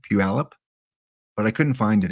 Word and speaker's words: Puyallup: Yeah, I can pronounce it correctly, Puyallup, but I couldn't find it again.